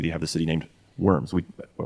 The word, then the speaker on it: Worms: Like in Germany, they have the city named Worms. They might pronounce it Worms or something different, but that Verms.